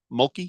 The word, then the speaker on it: Mulkey: Mulkey?